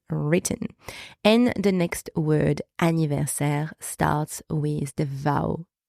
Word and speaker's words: anniversaire: E, and the final E here is silence. You do not pronounce it. So we have serre. Serre. All right, so that gives us anniversaire.